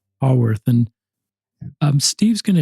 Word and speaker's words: Haworth: And tell us how to pronounce that. Make sure we did it right. Hawworth. Hawworth.